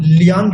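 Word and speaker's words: 两: टू जो है Chinese के अंदर 2 तरह से प्रोनाउंस होता है, यहां हम लियांग यूज करेंगे।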